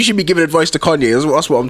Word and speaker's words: Kanye: from the days where people thought his name was kane oh yeah couldn't couldn't even say his name yeah yeah yeah well kanye or whatever it was